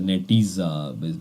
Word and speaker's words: Netezza: Okay, so result means that though it is pronounced as a Netezza because it's like in American accent basically, since the company